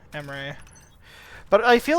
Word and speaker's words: Emre: I always said I feel like if I were to choose, I'd pick Emery. It's spelled E-M-R-E, Emery.